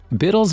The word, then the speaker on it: Bittle: In fact, Biddle's name rhymes with little for a reason.